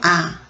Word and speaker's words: 啞: 발음은 요 버금 아, 두 번째 아고요.